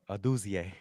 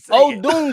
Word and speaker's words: Odunze: Aduzie. You never try to throw flair on there too. Like, you just shit. Pronounce that shit right now for me, right now. Odunze.